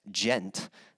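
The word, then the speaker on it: djent: what is known as gent uh so if you ever hear the term gent and that's spelled uh d-j-e-n-t a lot of people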